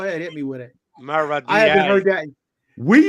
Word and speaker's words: Maradei: But my name really is Maradei because, I got it all inked up on my arm.